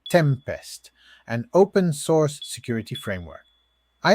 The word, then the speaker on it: T3MP3ST: It is T3MP3ST, pronounced Tempest, an open-source security framework.